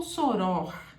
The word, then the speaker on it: soror: muito importante você saber se uma palavra é assim duas sílabas terminadas em r e não tem acento quer dizer que a sílaba tônica dela é essa aqui ela passa a ser oxítona aí nasce Então você vai ter que falar chorou ou soró aí é que vem